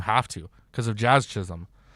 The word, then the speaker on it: Chisholm: there is that i can chinches kai chan chism that man it's so great to be able to hear my last name pronounced correctly by everyone here in south florida